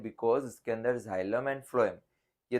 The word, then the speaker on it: phloem: फ्लोएम जब भी हम प्रोनाउंस करते हैं ना तो फ्लोएम में एफ लेटर का प्रोनाउंसिएशन हो रहा है।